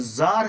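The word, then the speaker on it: czar: है तो फिर क्या बनेगा सुल्तान बनेगा अगर जार है तो फिर क्या बनेगा जरीना बनेगा ठीक है जार रूस के राजा को जार कहा जाता था सी स ए आर और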